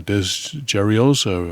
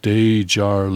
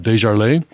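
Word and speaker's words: DesJarlais: caucus repres pres ative Scott uh Dez geros Republican of Tennessee pronounced de Jarl okay representative Scott dejarle uh T Trent Franks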